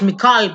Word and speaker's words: Michal: death excuse me oh it's Macaulay prosthetic okay not Michael but sorry I've said